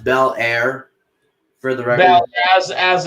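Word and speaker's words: Belair: know and by the way uh billy it's pronounced bel air for the record as as in fresh defensive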